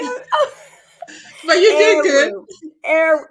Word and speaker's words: Eroh: Eru. It's Eru.